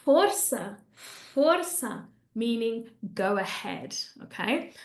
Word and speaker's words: força: That C, by the way, because it has that little beard on it, that's why we're not saying forca, okay? That cedilla tells us that we have to make it a S, okay?